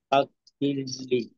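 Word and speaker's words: فاغفر لي: আচ্ছা, গয়নের উচ্চারণের ফাগফিরলি একটা বৈশিষ্ট্য হলো যে গয়নের উচ্চারণ কিন্তু একটু নরম ভাবে করতে হয়। ফাগফিরলি হ্যাঁ, দেখেন, যদি আমি গয়নের উচ্চারণটা এভাবে করি, ফাক, ফাক, ফিরলি, এটা নরম হইল না।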